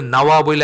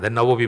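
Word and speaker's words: النووي: নাওয়া থেকে নাওয়াবিনখান থেকে বাংলায় তো আর এই উচ্চারণটা হয় না নববী বলি আমরা নববীর সাথে নবীর কোন সম্পর্ক নাই নাওয়াবি আসলে নাওয়া একটা জায়গার নাম ওখানে উনার জন্ম ছিল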